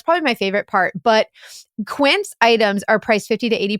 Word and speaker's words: Quince: Quince.